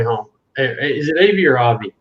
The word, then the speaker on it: Avi: Is it Avi or Avi? It's Avi. It's like Javi without the J.